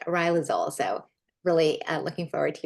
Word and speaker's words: Riluzole: But now we know it's pronounced Riluzole.